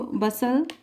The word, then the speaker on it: bustle: उसके बाद आप लिख सकते हो बसल, BUSTLE। बसल मीन्स हलचल एंड हसल आप लिख सकते हो। तो ये हमने साइलेंट लेटर जिसमें टी साइलेंट है वो लिखने